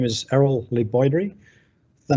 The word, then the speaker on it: LeBoydre: my name is Errol Lee Boyd REE the name is so it's obviously French and it sounds like